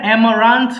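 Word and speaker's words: amaranth: আমি এটা অ্যামারান্থ বলবেন, অ্যামারান্থ। অ্যামারান্থ, যে আমাও বলতে পারেন বাট আটা বড় হবে না, আমারান্থ এরকম, রেড আমারান্থ।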